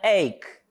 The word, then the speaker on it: ache: Palavrinha ache. Ache, o H também não é pronunciado.